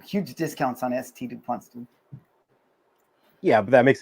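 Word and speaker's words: S.T. Dupont: Somebody was like, "Hey, bro, it's not a Saint DuPont, it's St. DuPont."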